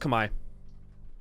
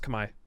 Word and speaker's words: Khmer: No, it's pronounced Khmer. It's pronounced Khmer. 100%. Just trust me on this.